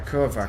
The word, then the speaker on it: kurwa: Yeah, Kurva, because like it's a V, isn't it?